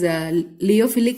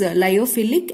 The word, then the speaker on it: lyophilic: I usually pronounce this as leophilic and leophobic, but correct pronunciation is lyophilic and lyophobic, right?